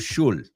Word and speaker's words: should: Cuidado que no pronuncias will, could, should. Right? That's a very common pronunciation mistake. La L es muda. O sea, quítala.